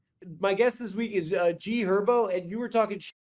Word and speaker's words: G Herbo: It's also G Herbo. The H What is is silent, bro. What? The H is silent. It's G Herbo.